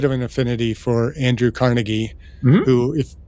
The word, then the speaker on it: Carnegie: Andrew Carnegie, who, if those of us from Pittsburgh would call Carnegie, but it took me years to realize that I thought people were pronouncing the name wrong. Oh, these uppity people in New York calling him Carnegie. It's Carnegie, but no, it's actually Carnegie.